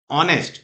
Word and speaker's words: honest: Because here H is there, but H is silent. So how we pronounce it? We pronounce honest, honest.